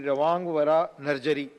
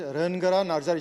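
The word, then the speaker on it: Rwngwra Narzary: Now, Sri Rawang Vara Narjari. Mr. Rawang Vara Narjari. Thank you, sir. Please. Pronunciation is Rangara Narjari, sir.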